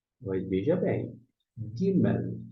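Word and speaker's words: ג: Mas veja bem, Gimel é a próxima letra. Essa letrinha aqui é Gimel. E note que Gimel se escreve com o quê?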